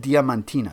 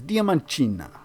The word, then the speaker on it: Diamantina: I just figured out how to pronounce it in a Portuguese accent. It's Diamantina. Isn't that cool? I always said Diamantina. It's Diamantina.